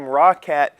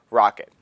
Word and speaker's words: Roccat: accessories i call them rawcat because it is spelled r-o-c-c-a-t the way they actually pronounce it is rocket the things that i